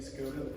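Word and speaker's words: Škoda: Here, Skoda Octavia. The U.S. pronunciation would be Skoda, but it's actually called Skoda.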